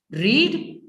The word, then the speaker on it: read: जबकि READ ही आता है, कुछ अलग नहीं है, स्पेलिंग चेंज नहीं होती है, लेकिन प्रोनाउंसिएशन से हम उसको टेंस को बदल देते हैं. रीड रेड, that's the change.